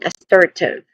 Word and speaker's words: assertive: There's three distinct sounds here when it comes to pronunciation. It starts with a. It starts with awa sound. A weak and stressed a vowel sound. Next is sir. I mean sir again sir. This is a stressed syllable and then followed by t which is the which is the last syllable of the word.